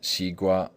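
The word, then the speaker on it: 西瓜: But the Chinese term is still pronounced xigua, which is absolutely identical with the Greek word sikua, of which Liddell and Scott say, perhaps the melon.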